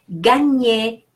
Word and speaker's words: gagner: G-A is pronounced G. Not je, but G. G-N is pronounced Ñ, like the Spanish Ñ.